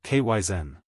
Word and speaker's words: kaizen: First, kaizen. In the west, we pronounce it kyzen.